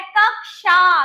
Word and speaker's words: कक्षा: देखो कक्षा और कक्षा, इसका जब हम करेक्ट प्रोनाउंसिएशन करते हैं बच्चों तो क्या होता है, कक्षा।